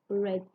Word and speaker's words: read: i read a newspaper it isn't the same pronunciation i read the newspaper so the past simple of the verb read is read it isn't the same